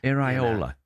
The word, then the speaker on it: Iraola: how to pronounce Iraola It starts with an I. It's not that hard. Well, thanks, Mark. Thanks for those. Iraola.